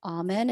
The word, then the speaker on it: Amen: Again, his name is Daniel Amen. It's spelled Amen, like amen. But he's got a YouTube channel, and him and his wife Tana do great work on the YouTube channel.